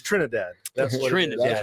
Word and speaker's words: Trinidad: As I'll let you pronounce. Is it Trinidad? It's Trinidad, yeah.